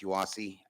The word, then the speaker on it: UASI: So essentially with this program um it's it's pronounced YASI. Uh UASI is is a is a combination of state and federal funds.